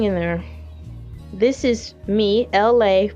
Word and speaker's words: Elay: This is me, LA, pronounced LA like the city.